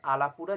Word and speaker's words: Alappuzha: কিন্তু ওরা উচ্চারণ করে মানে এটা হবে হচ্ছে আলাপুরা জিমখানা একচুয়ালি রয়ের উচ্চারণ তা সে যাই হোক মানে আমি এখন